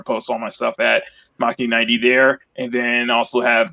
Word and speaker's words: Machni90: Because we all say McKeany. Fine. I'm used to it. Used to it, Jeff. Everybody else says Bikini90. It's pronounced. I say it as Machni90 because Machni because it's basically my last name pronounced in Japanese.